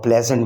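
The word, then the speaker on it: pleasant: प्लेजेंट में एस जेड की आवाज़ दिया करता है और प्लेजेंट में ई साइलेंट है, लिखा जाता है, बोला नहीं जाता।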